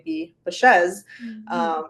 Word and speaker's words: Baschez: Yeah, so it's pronounced Baschez, Mhm. and basically, you've probably never heard about it because my husband and I joined our last names. So he was Bashaw and I was Sanchez.